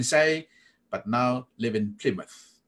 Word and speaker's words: Plymouth: you can even say but now live in Plymouth น ะ ค รั บ Plymouth ค รั